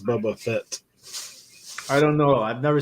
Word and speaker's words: Boba Fett: bubba bubba bubba bubba how you say it Boba Fett yeah if you're from the south we call